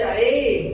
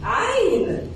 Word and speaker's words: عين: الحروف وبعد كده ايه ما اقولش عين اقول عين زي ما بتنطق في القران هو ينفع نقول عين نقول